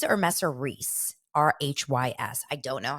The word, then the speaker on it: Rhys: And I think that, it's pronounced Reese.